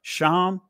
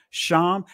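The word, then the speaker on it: שֵׁם: it's a simple word sham that's the ancient Hebrew pronunciation of it sham let's see what name sham let's see what it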